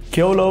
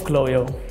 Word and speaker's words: Kjølø: Hoe spreek je het echt uit? Ja, ik verstaan dat het een beetje moeilijk is, maar je zegt Kyolo.